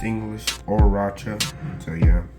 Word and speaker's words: Horchata: It's pronounced English Horchata, so yeah, the H is silent.